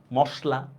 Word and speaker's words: মশলা: যেমন দেখেন, মশলা বলি না মশলা বলি বলেন তো, মশলা, ঠিক না, দেখছেন লিখছি আমি দন্তস্ব, কিন্তু উচ্চারণটা করতেছি কিন্তু তালব্যস্য।